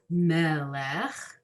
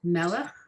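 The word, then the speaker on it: מלך: It's not melech, it's not melech, it's melech. Okay? Melech. Melech. Got it? It sounds like you all have it. So that's line 9 across is four words, melech, melech, melech.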